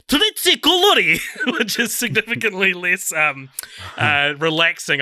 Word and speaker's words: trzy kolory: I know how to pronounce three colours in French. Trois couleurs, or in Polish, it's trzy kolory, which is significantly less relaxing, I think.